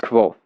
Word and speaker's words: Kvothe: My name is Ko, pronounced nearly the same as Quo.